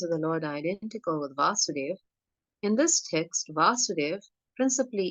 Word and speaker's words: Vasudeva: the names here when when the short form of a is used in the name vasoder v a short a vasudev the energy refers to krishna's father vasudeva but when that same name is written with a long a the first a is a long a vasudev when it becomes Krishna so we understand the